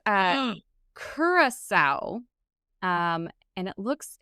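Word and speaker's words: Curaçao: those like stocks that is made it's a kurasa um and it looks it's a they spell that c u r a c a o but apparently it's it's pronounced kurasa that that's what the the internet says um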